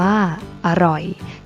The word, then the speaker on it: อร่อย: อ่าน ว่า ว่า จรวด อร่อย อ่าน ว่า อร่อย เช่น เดียว กัน นะ